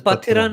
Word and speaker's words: Pathirana: Mahesh Thikshana, and how do you pronounce this guy's name? His So name the is Pathirana.